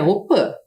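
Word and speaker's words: opy: participam sempre da op embora a gente escreva aqui opi que é a casa de reza a pronúncia correta é opan Principalmente as crianças pois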